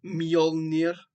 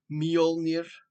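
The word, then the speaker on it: Mjölnir: And for using his hammer called Molir, I'll say it right for everyone that doesn't say it right. Molir, his famed hammer because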